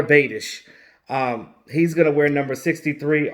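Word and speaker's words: Biadasz: the fourth technically Tyler you pronounce his last name Bay Tish so so Tyler Bay dish he's gonna wear number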